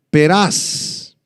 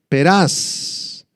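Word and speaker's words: Peres: medos y los persas esta palabra Pérez es la palabra peraz peraz en el arameo y significa realmente romper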